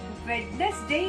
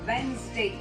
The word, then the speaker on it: Wednesday: Wednesday नहीं होता है। The right pronunciation is Wednesday. Yes, Wednesday and not Wednesday.